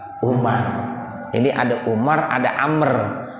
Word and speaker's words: Umar: bin Amr Bin Ash bedanya Amr dengan Umar kalau ada waunya bacanya Amr kalau kagak ada waunya Bacanya apa Umar ini ada Umar ada